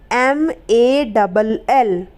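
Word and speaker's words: mall: क्या पढ़ने हैं ओ जैसे माल अब यहां पर ए है और ए के बाद क्या ए रहा है डबल ल ए रहा है तो यहां पर हम ए को क्या पढ़ेंगे ओ पढ़ेंगे कैसे मॉल मां डबल ल मॉल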